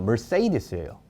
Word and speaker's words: Mercedes: 메르세데스가 실제 영어 발음으로는 Mercedes예요.